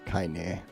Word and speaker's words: Kaine: Pronounce her name is Kanye. No, it's Kaine.